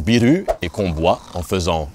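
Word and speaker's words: ビール: appelaient le Saquet d'orge un truc qui se prononce biru et qu' bois en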